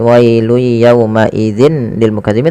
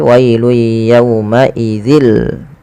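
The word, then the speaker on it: وَيْلٌ يَوْمَئِذٍ لِّلْمُكَذِّبِينَ: Ya, maka dia bacanya bukan lagi wailu yauma idzin lil mukazzibin tapi wailu yauma idzil.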